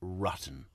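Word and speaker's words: Ruetten: a John ruton you mean John ruton it's pronounced ruton okay it's such a clever tactic that they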